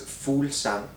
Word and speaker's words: Fuglsang: away the G's, then it will be okay. So if you say it would be Simple stuff. Fulsang, maybe.